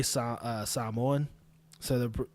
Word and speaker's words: Samoan: But anyway, when I say Samoan, so the when you say Samoa or Samoan, when I say it properly, which is how I'm saying it now, Samoans or Samoans.